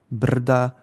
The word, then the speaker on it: brda: The stress is on still on r.